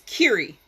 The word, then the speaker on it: Kiri: You pronounce my name, it's Kiri. It's short for Kirianya.